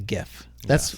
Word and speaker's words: GIF: It's the same with GIF and JIF and YIF.